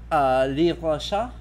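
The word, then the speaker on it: Livre de Chasse: According to Gaston Phoebus, or Gaston Phoebus, Livre Chat. Actually, I think that the S gets pronounced in this one because there's an E at the end.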